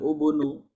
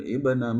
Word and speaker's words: ابن: Nah, kemudian tidak boleh dibaca dengan ubnu, tapi dengan ibna Maryam ya, ubnu Maryam ya.